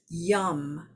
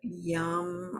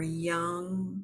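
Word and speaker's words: yam: And for the heart chakra, the mantra, this particular sound, it's called a bija mantra, is yum, Y-A-M. It's yum or young sometimes pronounced.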